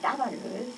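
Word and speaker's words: דָּבָר: 다양한 그 의미로다가 이 따바르를 쓰고 있죠. 네, 그래서 이 따바르 하면은 여기는 이거는 지금 따바르 똑같으죠? 다만 여기서는 따바르 이 아발음이 조금 이렇게 하나 점 들어가니까 좀 장모음이에요. 따바르.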